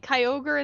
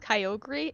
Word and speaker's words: Kyogre: how much no no no no they say kyogre in the anime the only time it's pronounced kyogri is in the hoenn pokemon wrap oh really